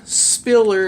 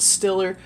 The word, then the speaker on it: Spiller: with this awesome author, Jan Spiller, if I didn't pronounce it correctly earlier. I think I said Stiller.